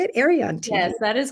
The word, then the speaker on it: Arion: Arion TV.